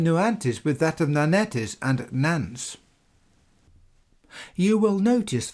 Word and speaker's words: Nannetes: I am pronouncing as Nanetes, this being the name used by both Julius Caesar and the Latin writer Pliny. Today the French would perhaps pronounce this word as Nonnet.